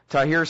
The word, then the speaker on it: Tahrir: Well, now, but you're saying, the million people out there in Tahrir Square, is that how it's pronounced?